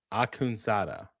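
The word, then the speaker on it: Akhundzade: it was a name that I knew I was not going to like n- pronounce correctly So yeah. So first. so from what I was told, it's Narman Akunsada.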